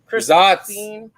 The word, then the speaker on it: Saaz: Pilsner using Czech Saaz. Zotz. Don't be that guy. It's Zotz. Zotz.